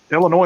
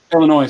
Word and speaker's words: Illinois: Illinois. So yeah, Chicago. Yeah. Illinois. Yep. Yeah. So that's -7, isn't it? What part of Illinois? -6. The S is silent, 5, asshole.